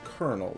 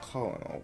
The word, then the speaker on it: colonel: to address no sir it's colonel though not calling all whatever i hate the